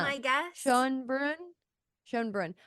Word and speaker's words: Schoenbrun: Jane Schoenbrun would be Schoenbrun. my guess. Schoenbrun. Schoenbrun. I was thinking that it ended with with burn, so I've been saying it wrong in my head for weeks.